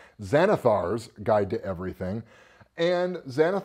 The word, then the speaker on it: Xanathar: gonna be talking about xanthe ours guide to everything excuse me I mispronounced that and there's a very pissy beholder who will come at me if I don't say it right Zanna thar's guide to everything and